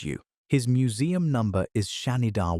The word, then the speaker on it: Shanidar: His museum number is Shanidar 1, pronounced Shan-Idar, and the men who excavated him called him.